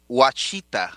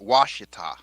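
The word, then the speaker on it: Ouachita: the moors have done it's watchita not washita it's one yeah it's a watching cheetah not washita just like it's anya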